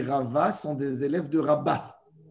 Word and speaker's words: Rabba: Chez les Ashkenazes, ils appellent ça Rové et Rabbé. Oui, pour différencier entre eux. Rové et Rabbé. Alors là, nous, les Sfarades, on dit Rava, Rabba. Mais il faut bien prononcer Rabba.